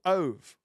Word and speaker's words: Ove: If you want to make yourself cry, this book, A Man Called Ove, which is I thought how you pronounced Ove, but I think it's actually OV, is a beautiful book.